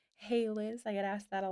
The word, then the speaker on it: Hailiiz: It's pronounced Hey Liz.